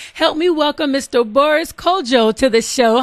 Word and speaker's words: Kodjoe: Can you actually give us the entire pronunciation of your name? My full name is Boris Frederick Cecil Tenate Oporte Kodjoe.